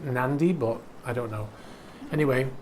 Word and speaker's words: Nadi: And she went to a place called Nadi, N-A-D-I. Someone told me it's pronounced Nandi, but I don't know.